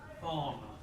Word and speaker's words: farmer: Where's the stress? First syllable or second syllable? First. Yeah. Farmer.